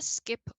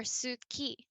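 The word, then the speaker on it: 好き: not haru it's and they tend to skip over vowels as well so these words we would probably pronounce tsukuru or suki but they just go and ski i could probably make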